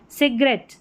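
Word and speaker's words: cigarette: तो देखिए ये हो गया कैसेट, कैसेट, एट, एट करके उच्चारण। सिगरेट, सिगरेट, eight.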